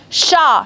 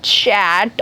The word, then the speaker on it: chat: the and consonant or the end alphabet in a single word is not supposed to be pronounced okay that's why sha not chat or chat okay very good at